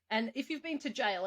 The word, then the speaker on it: gaol: been to jail yeah actually jail it has to be g-a-o-l have you been to